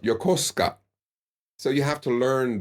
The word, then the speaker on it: Yokosuka: a a city not too far from me Yokosuka but it's pronounced Yokosuka so you have to learn these things um